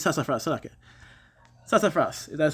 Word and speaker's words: sassafras: Sassafras. It's sassafras, okay. Sassafras, that's how it's pronounced, right?